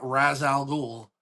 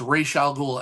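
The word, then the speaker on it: Ra's al Ghul: Same with Raal Ghoul. It's Ray Shal. It's not Razal Ghoul, it's Ray Shal Ghoul.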